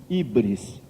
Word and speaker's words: híbris: pecado eles davam o nome grego de híbris se escreve h y br e s e o que